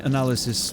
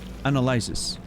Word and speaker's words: analysis: wrong this whole time I've been pronouncing it analyzis I'm pretty sure whenever you know analyze of course but every time I you know for instance that is my analyzis I'm pretty sure I've said that so many times and